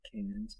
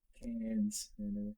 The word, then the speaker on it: Cairns: says it like cans. Cans. That's the way you're supposed to pronounce it.